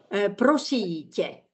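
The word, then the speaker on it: Prosím: Prosite. It is polite or plural. The stress is on prosite.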